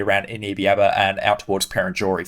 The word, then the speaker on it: Perenjori: Eneabba and out towards Perenjori for example. So or Perenjory I believe that's how you say it.